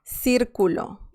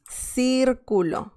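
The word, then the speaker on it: círculo: with this other uh sound c see i can say circulo sir culo and that means circle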